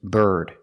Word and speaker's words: bird: look at this word the pronunciation is bird bird it's following the rule we see I before a consonant it makes the r sound like Burger bird we see the same